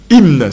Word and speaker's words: hymne: Quand on parle d'un hymne, hymne, ça s'écrit H-Y-M-N-E, hymne, H-Y-M-N-E, on appelle ça hymne